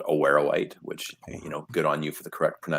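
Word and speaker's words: awaruite: our deposit is hosted in a mineral called aware white which you know good on you for the correct pronunciation there andrew and that is a form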